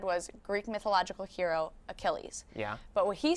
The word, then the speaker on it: Achilles: and what it said was Greek mythological hero Achilles yeah but what he said was Greek mythological hero achelis so because the pronunciation was so far off the woman who